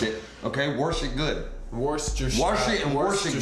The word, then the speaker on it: Worcestershire: No, it's Worcestershire.